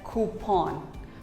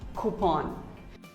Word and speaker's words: coupon: may even say coupon but actually it is pronounced as coupon who pawn coupon here's a very common word that we use